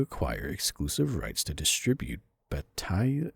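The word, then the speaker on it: Bataille: exclusive rights to distribute Batai. I think it's I'm not sure how you pronounce that. It's B A T A I L L E uh Marc Dark in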